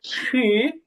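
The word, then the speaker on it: 十: হ্যাঁ আপনার উচ্চারণগুলো বেশ চমৎকার হয়েছে, তবে শি যেটা, হ্যাঁ এটা হবে রাইজিং টোন হবে, তো তো আপনি এভাবে উচ্চারণ করবেন যে শি, শি, শি।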